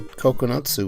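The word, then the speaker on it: 九つ: Oh, but I thought you just said kokonotsu was how you say 9.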